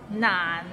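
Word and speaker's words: 難: I eat an orange Nan it's not N means difficult and it's difficult to pronounce so it start with n and ends with another n n n and it's in a low tone so n practice and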